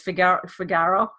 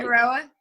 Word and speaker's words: Figueroa: Figaro. Did I say it right? Figueroa. Figueroa. Yeah. When I read it and then I hear it, I'm like two different things.